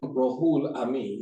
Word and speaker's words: Rohulamin: First of all, I am Rohulamin, that's how it's pronounced, Rohulamin.